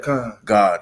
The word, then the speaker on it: Gad: You got you got all these different, you know, tribes within, you know, Gad, right? God, how the way that's how it's pronounced.